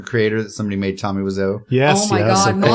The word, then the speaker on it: Wiseau: It's Wiseau.